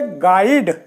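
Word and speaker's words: guide: इसी तरीके से देखिए गाइड अब यहां यू के बाद क्या ए गया आई तो ये यू बिल्कुल जो है साइलेंट हो जाएगा और ये हो गया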